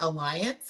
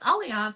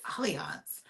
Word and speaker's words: Allianz: So yeah, Allianz, that's who I and it's spelled like alliance or alliance. That's how I was pronouncing it. And so one day I called them and they were like, Allianz.